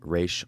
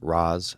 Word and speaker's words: Ra's al Ghul: At number 5, I have Ra's or Ra's al Ghul, however you want to pronounce it. You can pronounce it both ways, it doesn't matter.